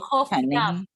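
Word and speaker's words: חוף ים: Chof yam.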